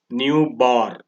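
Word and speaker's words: ν̄: is a symbol for newborn and it is pronounced as new bar new is a frequency new is a symbol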